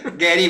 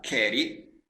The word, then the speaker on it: keri: quindi no ci siamo è con la k carey che però per regole di pronuncia si è associato a un altra parola la cappa diventa g e quindi foneticamente suona meglio e si trasforma quindi mai non diventa mai